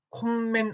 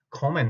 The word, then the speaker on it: kommen: 콤맨 아니라 커맨 하고 읽었죠.